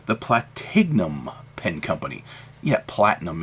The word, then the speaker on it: Platignum: Yeah, platinum is really how it's pronounced, I understand, but it's more fun to call it Platignum because I stick a G in there, and I'm very familiar with